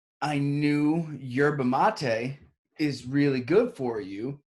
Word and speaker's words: yerba mate: was energy drinks called yerba mate, Mm. what I thought it was called, yerba Is mate. it not the same thing? Yerba mate is how you say it.